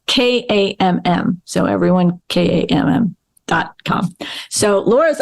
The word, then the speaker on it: Kamm: And I'm going to spell it because with the last name, maybe pronouncing, maybe it'll help. So Laura, so it's Laura, Laura, but it's Kamm.